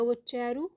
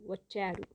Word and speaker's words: వచ్చారు: ఈ రోజు మీరు త్వరగా వచ్చారు। ఈ రోజు మీరు త్వరగా వచ్చారు। ఈ రోజు మీరు త్వరగా వచ్చారు। VACCHARU। आपको इसकी स्पेलिंग फिर से बता रही हूँ इंग्लिश में।